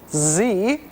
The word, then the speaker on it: Xe: z z better yet it is pronounced Z but it's spelled XE all the better to